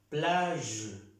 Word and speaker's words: plage: Plage, ¿cómo suena esta letra? Los que saben el vocabulario, la Y. Plage, plage. No estoy pronunciando la G con la E, no.